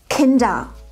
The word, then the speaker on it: Kinder: Der Buchstabe R in der Endung ER wird nicht ausgesprochen. Niemals! Auch in meinen Kursen werde ich immer wieder mit diesem Problem konfrontiert. Man spricht eben nicht alle R-Laute aus. Schau mal. Richtig ist es Kinder.